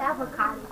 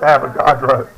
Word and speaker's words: Avogadro: Nobody, how do you say his name? I said avocado. It's Avogadro. It's what? Avogadro. Avocado. Avogadro. Okay, I said avocado. It sounds like avocado. Avocado. It sounds like avocado, but it's not.